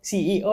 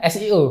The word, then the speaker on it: SEO: Hari ini kita kedatangan seorang CEO ya, Mas? Salah, bukan CEO. Apa? Bacanya apa? SEO.